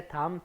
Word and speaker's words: thumb: Same case है थम, थम में MB लिखा हुआ है तो B हो जाएगा साइलेंट।